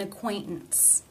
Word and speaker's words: acquaintance: The first T, it's followed by the schwa and N sounds. Therefore, it is a stop. An acquaintance, an acquaintance, an acquaintance.